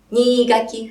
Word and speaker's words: Aragaki: I became Niigaki from. The true pronunciation of the family name is Aragaki, but my elder brother in law preferred to read it as Niigaki.